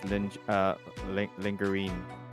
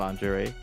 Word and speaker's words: lingerie: lingerie section, and then she immediately said that's lingerine. Oh, and then people were like, yeah, I did people too. Were like, yeah, that's it. And she's been saying that until like recently. Like, people never corrected her. They keep on saying, that's lingerine. That's not lingerie.